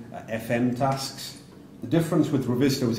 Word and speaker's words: Revizto: Again, we were actually speaking to somebody in the hall earlier on about how to pronounce Revizto. So it's not Revizto, it's Revizto, which means visual check in Latin.